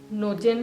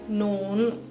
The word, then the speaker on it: nogen: करते हैं प्रोनंसिएशन की तो जो फर्स्ट है एन ओ जी इ एन नोजेन नहीं कहना है नोगेन नहीं कहना है प्रोनंसिएशन है नोन नोन जी का साउंड नहीं आना चाहिए इ का भी नहीं